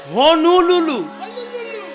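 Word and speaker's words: Honolulu: হ্যাঁ, উচ্চারণ ঠিক কর, হনুলুলু।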